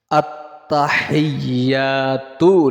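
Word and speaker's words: التحيات: সাথে সাথে শিখুন আত্তাহিয়াহা উচ্চারণের জন্য গলার মধ্যে চাপ দিতে হবে আপনাকে যে গলার মাঝে মাঝখানে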